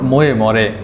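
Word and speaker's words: Moje more: ময়ে ময়ে লেখা হলেও এর উচ্চারণ ময়ে মরে।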